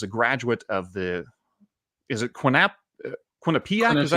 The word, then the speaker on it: Quinnipiac: He is a graduate of is it Quinnipiac? Is that how you pronounce it? Yes. Quinnipiac University.